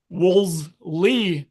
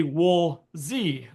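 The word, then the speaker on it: Woolsey: see that it's sey so now we have a whole generation of students and flight instructors calling it wols Le Peak when it's really wool Z Peak woy Peak um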